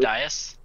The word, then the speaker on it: dais: In front of it, there's a huge pentagonal dice, D-A-I-S. I'm never sure how to pronounce that word. Dais? Dais, that's the one.